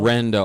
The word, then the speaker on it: Rendo: That's the name my father. He could not pronounce my own name until Randy? Randy. He's Mexican, and he could not pronounce. My full name's. And so he called me Rendo for the first 9 years of my life.